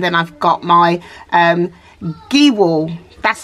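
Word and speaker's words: Gehwol: probably pronounce it as gay wall because the E is pronounced like an A so that's where I got confused but anyway it is giwal um so right so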